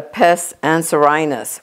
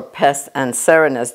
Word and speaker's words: pes anserinus: And when you're doing petrissage, you want to make sure and address the pes anserinus or pes anserinus, depending on who is pronouncing it.